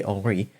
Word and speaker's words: Henri: they all said, like modern French, they say Henri.